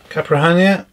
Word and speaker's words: Caipirinha: So we have a Velcro strap, TBS Caipirinha, that's how you pronounce it.